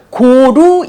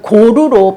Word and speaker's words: 고루: 그러면서 중국어로 긍로를 로마자로 표기하면 고루로 발음을 했다고 합니다.